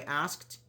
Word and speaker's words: asked: How do you pronounce this? Asked or asked? Which one? The last sound, is it D or T? I asked.